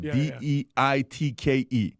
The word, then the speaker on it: Deitke: I'm going to pronounce the last name properly. I didn't say I said Deitke.